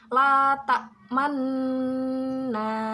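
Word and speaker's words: لا تأمنا: Berhubung bacaan ini dibaca ishmam, jadi membacanya tidak hanya la ta'manna, tidak hanya seperti itu, tetapi memoncongkan bibir kita seperti membunyikan dhammah, tetapi dhammahnya tidak terbaca. Jadi membacanya la ta'manna seperti itu.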